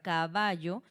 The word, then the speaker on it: caballo: Por ejemplo, aquí sabemos que la sílaba tónica de la palabra caballo es en va, pero nosotros no vamos a decir que recae en la segunda, ¿sí?